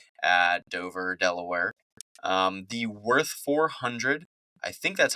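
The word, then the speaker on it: Würth: pronounce it w r I think the W is a v the W's a v in German like the yeah it's I haven't even looked up with verth is should we no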